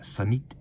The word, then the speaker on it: Zenith: years people have wondered is it Zenith Zenith or is there another pronunciation and in this instance there's actually another if you were in Switzerland it would be something a lot more like sanit whereas in the United